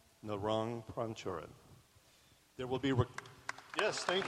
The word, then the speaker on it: Narong Prangcharoen: you say your name so you get the pronunciation right my name is narong prang jiren narong pranchoran there will be yes thank you welcome in